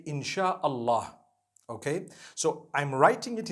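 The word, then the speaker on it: Insya-Allah: They pronounce the S-Y the way we pronounce S-H. So they can write it how they want, for as long as when people read it, they read it Insha'Allah.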